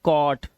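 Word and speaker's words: caught: इसे पढ़ेंगे क और जो हमारा जी एचटी है इसमें जी एच को हमेशा हम क्या रखते हैं साइलेंट रखते हैं तो हम क्या पढ़ते हैं सिर्फ टी को पढ़ते हैं तो ये हो गया कॉट ये कॉज नॉट नॉट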